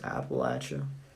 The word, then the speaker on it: Appalachia: you wouldn't otherwise notice so if you want to blend in it's apple atcha and don't pronounce don't